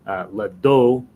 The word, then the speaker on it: le dos: La tête, le bec, le cou, le dos. You don't pronounce the S on the end of those words.